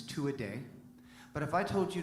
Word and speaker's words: Tuatha Dea: just so you know the actual pronunciation of the band's name is two a day but if i told